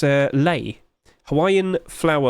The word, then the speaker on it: lei: got the uh Hawaiian L what's how' you pronounce it it's uh Lei Hawaiian flower L you know it's the flower